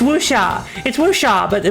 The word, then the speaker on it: Wuxia: Let's see, Wuxia, yeah, but, yeah, Wuxia, it's Wuxia, but not Sha, it's Xia. It's pronounced with your Xia. It's kind of like your tongue is kind of like lower on your teeth, Xia, and your mouth is kind of wider.